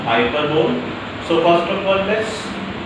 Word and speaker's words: hyperbole: This is pronounced hyperbole.